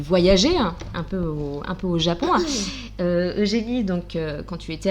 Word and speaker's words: Eugénie: C'est pas Eugénie, c'est Eugénie.